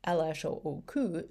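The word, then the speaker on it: L.H.O.O.Q.: When pronounced in French, LHOOQ is a pun for LHOOQUL, translated colloquially as she's got a hot ass.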